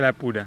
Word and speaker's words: Alappuzha: en la playa de alap pura alap pura al pusa se escribe pero se pronuncia la pura no es una playa